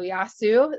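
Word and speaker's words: Γεια σου: So Yasu is how you say hi in Greek.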